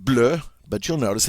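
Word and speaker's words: bleue: singular form is BL now it sounds the same as the masculine form it doesn't change the pronunciation all right it's pronounced blur but you'll notice it's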